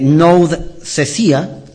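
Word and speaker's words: nouthesia: de una palabra griega la palabra amonestar que se escribe nía N O U d s e s i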